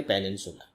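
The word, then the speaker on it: peninsular: प्रायद्वीपीय को आप जानते हैं इंग्लिश में कहते हैं पेनिनसुलर, आर साइलेंट है, पेनिनसुलर।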